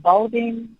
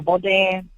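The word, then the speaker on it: Bodin: And it's called Balden. Your last name, Balden. Yeah. How you pronounce it? B O D I N. Oh, Bodan.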